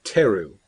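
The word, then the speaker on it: Therru: name until later but her name is uh Teru which is spelled t h r r u because it's a fantasy name you can't just spell it in a straightforward manner that would be silly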